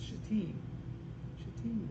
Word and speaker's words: shittim: The New King James, I looked up the pronunciation of that word. It's shittim wood.